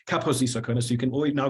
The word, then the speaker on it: Kaposi: for snobbishness the wait it's not caposi sarcoma but the emphasis is on the first level so it's capacity so you can always